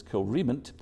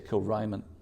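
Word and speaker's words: Kilrymont: were brought to what should properly be pronounced as Kilrement, but if you say that to the locals, they'll think you're a stranger, because they all say Kilriment.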